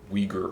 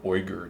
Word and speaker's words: Uyghur: and old turkic or uyghur or oyger depending on your pronunciation scheme for that language um I've been schooled